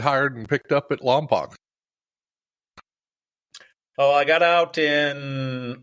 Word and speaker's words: Lompoc: Is it Lompoc or is it Lompoc? The locals pronounce it Lompoc.